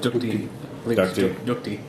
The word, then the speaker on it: ducti: Dukti. Dukti.